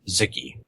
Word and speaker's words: Xiki: What is Ziki?